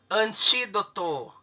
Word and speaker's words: antídoto: Antídoto. Antídoto. Quantas sílabas?